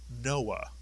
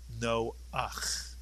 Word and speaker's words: Noach: We call him Noah, but in Hebrew it is Noach.